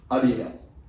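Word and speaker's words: Adziel: It's called A D Z I E L pronounced Adl.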